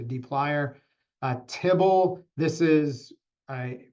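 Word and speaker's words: dplyr: D plier um so may look weird to pronounce but you can see the picture is a plier so it's a d and then funny spelled plier so D plier a tibble this is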